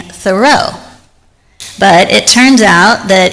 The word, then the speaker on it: Thoreau: For most of my life, I've been pronouncing Henry David Thorough's name incorrectly. I grew up saying thorough.